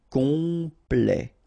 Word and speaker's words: complet: Temps, and then complet, okay, here a T at the end will open it, the sound of the E, so E, okay, plait, complet, complet, and then OM is nasal